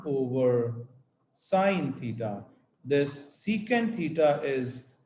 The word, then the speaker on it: secant: That is going to be the reciprocal of this cos theta, and this is written as SEC, and we pronounce this as secant theta.